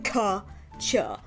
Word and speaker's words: Katya: My name is Kat, or Katya, spelled K-A-T-Y-A, but it's pronounced like Ka-Cha, Gotcha. For those of you who've been asking, that's how you say it.